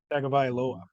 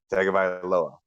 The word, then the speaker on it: Tagovailoa: Tua, I need your help pronouncing the last name, Ty Bob. Tagovailoa. Tagovailoa.